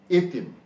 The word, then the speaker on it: এতিম: যে শব্দ ছিল এতিম, এই এতিমের ইকারান্ত ধ্বনি কোনটি? তি, তাই তো? নিয়মে বলা হয়েছে ইকারান্ত ধ্বনির পূর্বে শব্দের এ ধ্বনির উচ্চারণ সাধারণত সংবৃত হয়। এই যে ইকারান্ত ধ্বনি তি, তার পূর্বে যে ধ্বনিটি রয়েছে এ, এটির উচ্চারণ হবে সংবৃত।